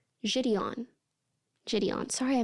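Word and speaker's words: JiDion: that even know how you say his name jidon jidon sorry I mispronounced hate raate we have a name we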